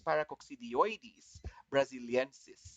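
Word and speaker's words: Paracoccidioides brasiliensis: pronounce it correctly unfortunately the correct pronunciation is paracoccidioides brazilians all right so try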